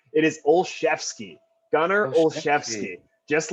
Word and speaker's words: Olszewski: the new england patriots what's his name gonna ozzowski so phonetically absolutely uh is that what his parents uh intended for the pronunciation of his last name it is olszewski gunner olszewski just like mike shashefsky the duke